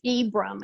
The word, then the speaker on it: Ibram: And somebody I would highly recommend is a guy by the name of Professor it's Ibram. It's spelled Ibram.